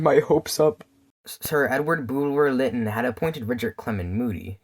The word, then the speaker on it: Bulwer-Lytton: Hey, Sir Edward how do you pronounce that again? It's Sir Edward Bulwer-Lytton, you twat.